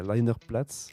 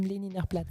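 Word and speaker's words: Lehniner Platz: Peut-être arriverais mieux à le prononcer le nom que moi d'où tu travaillais, c'est Leinerplatz. C'est la Schaubühne am Leninerplatz.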